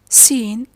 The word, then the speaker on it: scene: We say scenario, scene, scenery, scent, science, scissors, muscle, descent, fascinate, discipline, crescent. The C is silent after the S letter.